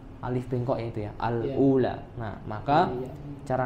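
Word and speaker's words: الأولى: di setelah huruf lam maka cara membacanya adalah Al Ula ketika menemui nantinya ke depan kalau ada bacaan seperti ini bacanya Al Ula kemudian berikutnya tadi di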